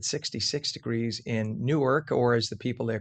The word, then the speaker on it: Newark: And as Mike said, 66 degrees in Newark, or as the people there call it, Nerk. Nerk. N-E-R-K. Nerk. Yes, you pronounce it Nerk.